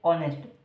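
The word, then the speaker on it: honest: बनेगे या ऑनेस्ट बने ओबवियस सी बात है जो एच रहेगा वो साइलेंट रहेगा ठीक है एच तो क्या साइलेंट रहेगा स्टार्टिंग हम ओ से करेंगे ठीक है बोलना कहां से स्टार्ट होता है ओ से हम बोलते हैं ऑनेस्ट ठीक है अगर हम इसको छोड़ो को क्या कर दो एच को छोड़ दो बाकी पढ़ो नेस्ट पढ़ जाएगा एच क्या रहेगा साइलेंट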